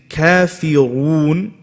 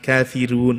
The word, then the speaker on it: الكافرون: When it comes to the ra, you have to ensure that you're making your mouth into an oval shape, right? Because if you're reading in a different qira'ah, right, it's going to be light. Kafirun, no. Kafiru, bring it in.